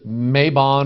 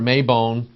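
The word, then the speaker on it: Mabon: have the automnal Equinox it's called maybon or mayone and you see here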